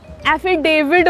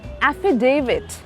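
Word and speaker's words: affidavit: लोग कहते हैं इसे एफिडेविड बना देना। डेविड कैसे हो गया? टी है वहां पे। The pronunciation is एफिडेविट।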